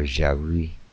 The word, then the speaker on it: Yahweh: In his Hebrew dictionary, Jesenius supports Yahweh, which would have been pronounced Yahweh or Jahwi, with the final letter being silent.